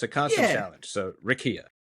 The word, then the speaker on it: Rickea: The the So, and it's Rakia Jackson is the proper pronunciation for her name.